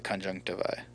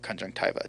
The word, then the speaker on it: conjunctiva: world it's covered with the conjunctiva or conjunctiva depending on how you want to pronounce it so a patient